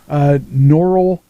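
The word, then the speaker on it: Norel AD: Norelad. Spell it.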